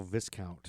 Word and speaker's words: Viscount: Oh, Viscount. I think it's pronounced Viscount. Viscount.